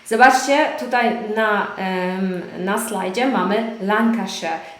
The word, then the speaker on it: Lancashire: Zobaczcie, tutaj na slajdzie mamy Lancashire. To nie jest Lancashire, tak jak na przykład we Władcy Pierścieni, tak? Mówią Shire. Natomiast w brytyjskim angielskim tak się tego nie wymawia. Mówimy Lancashire. Nie Lancashire. Pendle Hill in Lancashire.